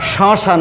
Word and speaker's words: শ্মশান: উচ্চারণের বেলায় একে উচ্চারণ করতে হবে শ্মশান ঘাটি, শ্মশান ঘাটি, অর্থাৎ একেও চন্দ্রবিন্দু দিয়ে উচ্চারণ করতে হবে।